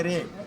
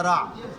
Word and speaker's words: Ra: Le disque solaire, c'est un mot prononcé ré. Sa, ré, ou bien sa, ra.